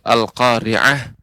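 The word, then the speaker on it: القارعة: secara umum bagus pengucapannya, sekalipun yang perlu diperhatikan yaitu al-qari'ah.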